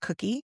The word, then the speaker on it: Cuqui: Where can people find out about Cuqui? Not spelled like Cookie. It's spelled like No, your mother-in-law's name.